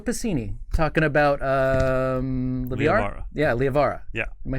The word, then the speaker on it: Liavara: Yeah, Liavara.